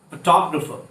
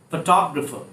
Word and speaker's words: photographer: Photographer. Photographer. Not photographer, photographer.